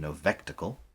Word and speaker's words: Novectacle: Novectacle. Like spectacle. novel spectacle, I guess.